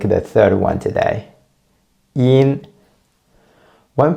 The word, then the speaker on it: yin: Yin. When pronounce the yin sound, first, please get a perfect E at the beginning and then just add an N sound at the end.